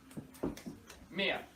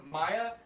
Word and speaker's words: Mia: feel kind of guilty am i actually pronouncing your name correctly yes okay i would have said something okay in indiana they're very sneaky if you if it were maya yeah she would have flipped all right you have